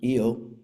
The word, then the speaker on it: Io: IO or eio if you'd like it's actually pronounced eio but it's everybody says IO but it's eio um uh it's Magna ocean